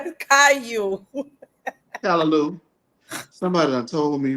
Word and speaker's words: Caillou: Oh, Caillou. It's Callaloo, baby. So you're saying it wrong. No, that's how I pronounce it. You know that's a white character, right? They don't pronounce it Callaloo.